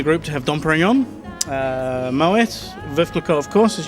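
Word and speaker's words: Moët: If we look over here, you'll see a T at the end there, and you do definitely pronounce it Moet.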